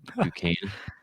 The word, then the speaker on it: Duquesne: Shout out to them. Duquesne. Duquesne, is that how you say it?